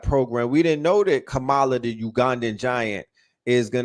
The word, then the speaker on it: Kamala: Is it Kamala? You know, they say K with like comma, or so Kamala.